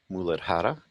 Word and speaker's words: Muladhara: So the root chakra, again, it's pronounced in the Sanskrit name, Muladhara, and it's located at the base of the spine.